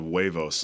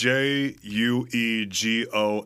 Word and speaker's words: Juegos: Did you say Juegos? Yes. Okay, because it sounded like you said huevos. Like, you don't want people to spell that. So No. it's Juegos.